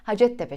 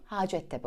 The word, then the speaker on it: Hacettepe: okulunun ismi Hacettepe Üniversitesi beş yıl boyunca Hacettepe şeklinde kısa okumuştum kısa kullanmıştım Ben de Ama doğrusu Hacettepe olacak Hacettepe Üniversitesi Türkçe testlerinde